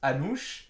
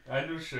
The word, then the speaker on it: Anouche: Ouais, et du coup, quand je l'ai vu en VO, et il le prononce Anouche. Anouche. Et moi je lisais H-A, avec le A il y avait un accent bizarre, N-U-S, j'ai dit ah, et tu sais je comprends pas tout de suite.